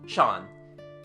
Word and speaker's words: Jean: he goes to avenia the local pronunciation turns jean into shan he is called shan mathu our man offers no